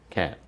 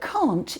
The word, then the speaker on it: can't: Jay puts a stop on the word so it ends suddenly and the T disappears. See if you can hear the difference. Can, can't. Can, can't. Can, can't. They sound similar, don't they? But can't is a little shorter. It ends more suddenly.